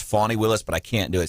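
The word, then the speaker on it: Fani Willis: what fan and I know her name is pronounced fawnee Willis but I can't do it sounds weird saying funny so I'm going to call her Fannie Willis it sounds weird weirder than Fanny uh yeah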